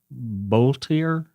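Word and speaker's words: Boelter: Uh I think uh the suspected killer, Vance Bultier is how you pronounce his name, I think.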